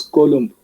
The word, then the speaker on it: coulomb: The unit of electric charge is coulomb, capital letter C, or coulomb. No, pronounce it wrongly because of the spelling.